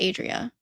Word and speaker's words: Andrea: It's actually pronounced Adria.